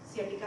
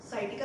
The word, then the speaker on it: sciatica: ऐसी ही कुछ स्वास्थ्य समस्याओं में से एक है सियाटिका पेन। कई लोग इसको साइटिका से भी प्रोनाउंस करते हैं, पर ये किसी डिसीज का नाम नहीं है।